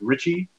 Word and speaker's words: Ricci: I think it's the way he pronounced it was Richie, but it's RICCI, Richie Man Productions.